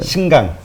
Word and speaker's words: 신장: 신강. 신강 지역. 신장이라고 하죠. 그러니까 신장. 발음은 신장. 그러니까 한자로는 신장이고 말씀하신 대로 신장이죠. 미국이죠.